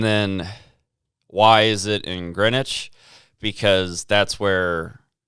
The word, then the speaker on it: Greenwich: how they said it it's greenwich but it's spelt with a w in the middle london um they drive